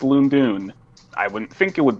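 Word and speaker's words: Lon'qu: actually the next one and yes apparently it's pronounced loom doon i wouldn't think it would be pronounced loondoon but it is because i guess pronunciation hates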